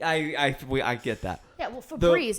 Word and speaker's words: Febreze: See, How do you spell Febreze? Febreze. Yeah. People think it's easy. I get that. yeah. Well, Febreze, it's the- like the breeze.